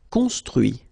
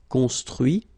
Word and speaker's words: construit: Construire, construit. Cuire, cuit. Détruire, détruit. Instruire, instruit. Okay, so you can notice that even if I put this final T, so as usual, I don't pronounce it. Okay, conduit, construit, cuit, détruit, instruit.